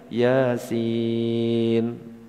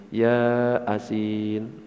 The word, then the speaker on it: Yasin: Yasin, kan gitu biasanya kan? Yasin, gitu kan bacanya. Tulisan kalau Latin, ya asin. Akhirnya dibaca Bismillahirrahmanirrahim, ya asin.